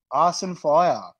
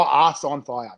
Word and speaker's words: Arse on Fire: Arson Fire. Who does that one? Say it properly. Arson. Oh, Arse on Fire.